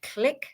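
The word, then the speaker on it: Qlik: It's like dashboards, Looker Studio, uh Tableau, uh Click spelled with a Q, Q L I K.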